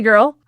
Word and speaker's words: girl: Girl is tricky because the R is hard and the L is hard, and something goes on with that vowel. Basically, you want to think of the IR in this word as like ER, like her.